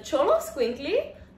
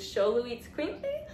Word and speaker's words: Xoloitzcuintli: yes good girl so this is a cholo squinkly the more american way to pronounce her name is sholu eats quincy and they're also known